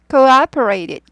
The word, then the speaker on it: cooperated: 예음 힘을 모은 거예요 cooperated cooperated coer operated 이렇게 돼요 오퍼가 두 잖아요 이거라고 안 읽고요 원래 oper에서 코가 붙은 거거든요 그래서 오우 발음이에요 cooperated cooperate에서 하지 않고